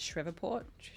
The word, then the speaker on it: Shreveport: Like we got in like 30 minutes before the athletes check in once we arrived in, is it Shreveport?